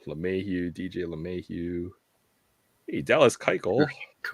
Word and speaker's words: Keuchel: Hey, Dallas Keuchel. Keuchel. I can never say his name right. I want to put the sh in there.